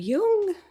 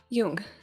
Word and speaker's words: Jung: it would be pronounced jung but it's pronounced like it would be spelled y-o-o-n-g and yeah i've actually